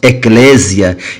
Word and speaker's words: ecclésia: do grego e crescia no português pronunciamos ecclésia e significa chamados para